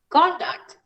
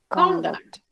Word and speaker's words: conduct: as a verb and where do you place the stress on nouns if you have the same word the first on the first section and you place the stress in which syllable or as a verb in the second conduct on the second syllable word so we have conflict